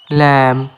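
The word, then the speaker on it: lamb: ল্যাম। ল্যাম মানে ভেড়ার বাচ্চা। এখানেও বি সাইলেন্ট।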